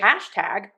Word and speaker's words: hashtag: If you were going to say hashtag stress syllable number one hash unstressed tag hashtag hashtag hashtag.